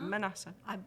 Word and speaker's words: Manasseh: And Dee Barnett and Jill, I've got to pronounce this correctly, Manasseh? Manasseh.